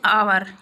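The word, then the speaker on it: hour: जैसे एन आवर, इसको हम हावर नहीं बोलते, इसको, इसमें एच साइलेंट होता है, आवर बोलते हैं इसको।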